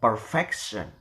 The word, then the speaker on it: perfection: For the example, so this is attract the stress the syllable before the suffix.